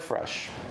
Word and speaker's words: Przech: Sounds like Fresh. As the folks can see on the graphic up there, my last name's a bit of a mouthful, so Yeah. that's how you say it.